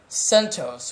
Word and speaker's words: CentOS: red hats base or CentOS which is based off Red Hat that is maintained by the community it's spelled sent OS even though that's not how it's spelled it's CentOS people CentOS and it stands for a